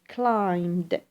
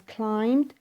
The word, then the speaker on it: climbed: notice the pronunciation is climbed we do not pronounce the b since B sound here is silent so has climbed to 3% why have